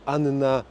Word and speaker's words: Anna: jest Też żeś są dwie takie same spółgłoski obok siebie to wymawia się obie jak na przykład Anna dżownica w szkole Uczyłem